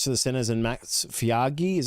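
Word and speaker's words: Feagai: So Jake Avarillo reverts to the centers and Max Fiagi, is how you pronounce it, to the reserves.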